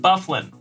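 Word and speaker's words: Byfuglien: several Draymond Green ah John bang it is pronounced bufflin I had a hunch I was murdering that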